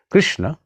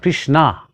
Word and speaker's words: Krishna: these names words expressions yes of course Krishna is right but not Krishna Krishna is the name of a woman it is the name of draupadi one of the great characters of Mahabharata the name of Krishna is Krishna not Krishna so if we are